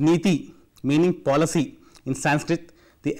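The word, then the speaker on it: NITI: Modi after he's having dissolved the Planning Commission pronounced methi meaning policy in Sanskrit the acronym stands for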